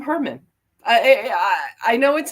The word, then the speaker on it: Heuermann: It's like that, I guess, is the correct pronunciation, but I guess as children, um, we call them Herman.